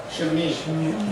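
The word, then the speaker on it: שם: Shemi.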